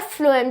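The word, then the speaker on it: phloem: फ्लोएम, देखो फ्लोएम में एफ आ रहा है, जबकि वहाँ पे पी आना चाहिए था, पर उसे प्रोनाउंस कैसे किया जाता है, फ्लोएम।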